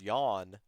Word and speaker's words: Yawn: And so what ended up happening was I eventually was like, well, what's the phonetical pronunciation? And I just realized it was yawn, like Mhm.